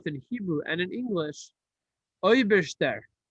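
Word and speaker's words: Eibershter: Hebrew and in English, Oiberster, it's spelled Eberster, A-I, Eberster. So I just say Oiberster because I have a little bit of a Russian lilt to it. But it's Eberster with an A-I.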